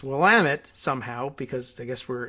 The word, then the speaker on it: Willamette: well am it weak even though it looks like willamette like a diminutive william or something like that but it's willamette somehow because i guess